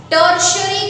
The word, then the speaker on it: tertiary: Now, carnivores as a secondary consumer and is followed by tertiary consumer. Underline that. T-E-R-T-I-A-R-Y. Tertiary. Right? उसको आप pronounce कैसे करोगे?